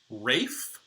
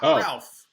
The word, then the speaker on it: Ralph: That dude's name apparently is an old English pronunciation, and it's apparently Rafe Fines. Instead, it's not Ralph, which I always thought.